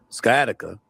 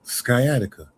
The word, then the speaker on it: sciatica: If you remember that because I'm here to tell you how to say it sciatica. You says sciatica. That sound like some medicine. Some some medication. Skyatica. That's the only reason he